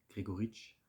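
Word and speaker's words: Gregoritsch: Et plusieurs minutes avant qu'un but intervienne, vu qu'un but de Mikhail, attention à la prononciation, Grigoric, avec pour passeur décisif un David Alaba qui était en forme, avec un superbe centre.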